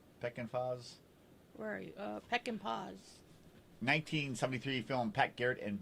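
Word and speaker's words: Peckinpah: Peckin Foz. How do you pronounce that? Peckin Foz? Where are you? Peck and Paws.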